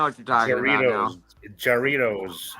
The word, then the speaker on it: Jarritos: Jarritos is a way, but it's pronounced with the H because it's J is H in Spanish.